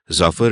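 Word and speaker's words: Zafar: told told him that it is not zafur it is zafur it rhymes with Duffer and I think that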